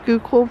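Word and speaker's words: Schuylkill: down here you can see this is the skookul river which runs through like Philly down that direction it looks like it's it was spelled it's pronounced skookul but there's a highway called the skookul highway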